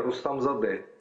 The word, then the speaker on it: Рустамзаде: слава я вас понимаю для украинцев моя фамилия труднопроизносимое моя фамилия рустам зады рустам за д-да прошу простить если неправильно произнес